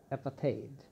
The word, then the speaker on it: apartheid: অ্যাপাথেইড উচ্চারণটা খেয়াল করবে। অ্যাপাথেইড, বর্ণ বৈষম্য।